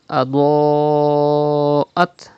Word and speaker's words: أضاءت: And then Adoat. Pronounce Dod with thicker voice. And there is Hamza after Alif Madda in the same word. It is Madde Muttasil. You have to read by stretching up to 5 harakat.